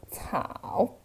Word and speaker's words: 草: It pronounced as 草.